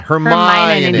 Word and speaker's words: Hermione: So I got to just extend the I. Hermione. You put not a Hermione in there. You put a ninny at the end.